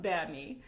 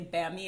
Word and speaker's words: bami: I said like oh I love bamy and you said bamy bamy like I mispronounced it so can you please say bami and tell us what